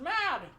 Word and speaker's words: Mad: uh uh mods stuff who's mod mod it's pronounced mad m-a-d prosthetics prosthetics we're here for the man